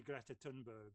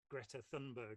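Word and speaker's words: Greta Thunberg: work anymore it's we've all got to be Greta tunberg or Greta thundberg if we prefer that pronunciation we've all got to get out there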